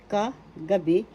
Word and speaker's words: kagabi: Second syllable ga third syllable b ka gabi is the third syllable is where the accent is how you that's how